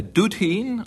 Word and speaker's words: dudheen: A straw, a cutty, an alderman, a dudheen, I think, but I could be wrong, and D-U-D-H-E-E-N. How do I pronounce it?